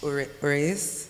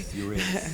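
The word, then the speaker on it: Uraeus: So for example, the chair that you created, Oruras, am I saying it correctly? Ureas. Uras.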